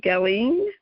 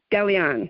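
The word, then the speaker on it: Gallienne: Hope I pronounce this right. Eva Lee Gelling, a biography. Gallion.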